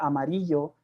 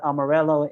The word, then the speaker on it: Amarillo: So you have to, as a Chicano, adapt to the pronunciation of American people, right? And you know that the roots are Amarillo, but Amarello is what is going to be accepted in the American community.